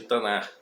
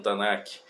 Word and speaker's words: Tanakh: O que nós chamamos de Antigo Testamento, e que nas Bíblias mais antigas, algumas vinham escrito Velho Testamento, os judeus chamam de Tanar, ou alguns pronunciam Tanakh.